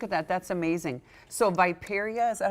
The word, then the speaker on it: riparia: So Viperia, is that how you say it?